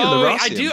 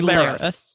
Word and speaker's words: Lerasium: I say Lerasium. I would say Lerasium, but I would say... But I still say Leras. I say Leras and Lerasium. I'd say Leras, but I do say Lerasium. Yeah. Also, it is an E, not an A.